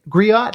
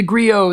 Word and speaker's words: griot: talk about the gri griot how do you say that word Grio is how I've always heard it yeah Grio gri yeah